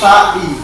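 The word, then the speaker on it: sa'i: Memang tulisannya itu sa tapi dia sebenarnya tu sa ada titiknya baru jadi sai bacanya sai ya jangan sai ya memang tulis sa ya kan bacanya ya apa bacanya sai sai nah coba memilai apa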